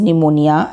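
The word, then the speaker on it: pneumonia: Cholerae, leprosy, P इज़ न्यूमोनिया, एंड जिसमें न्यूमोनिया में P silent है।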